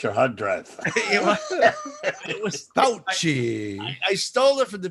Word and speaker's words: Fauci: Fauci. Yes, in Italian, the C is pronounced like CH.